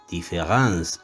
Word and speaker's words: différance: que esta différence gráfica, la A en lugar de la E, esta diferencia, différence, señalada entre dos notaciones aparentemente vocales, entre dos vocales, es puramente gráfica. Se escribe o se lee, pero no se oye, no se puede oír, y veremos también en